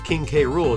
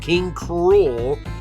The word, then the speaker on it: King K. Rool: fun of me for the way I pronounce King K rule too because I know I know it's supposed to be pronounced King cruel but I don't know why I just like King K rule better just personal preference but